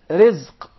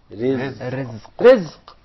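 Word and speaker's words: رزق: Rizq. Rizq. Rizq. Did you notice here the ra is very soft and light? Yeah, because it has a kasra.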